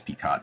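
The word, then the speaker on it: Picot: Yeah, look at the uh Sykes uh Pico agreement or Sykes Piccott depending on how you want to pronounce it. It's Pico in French, but PI O T.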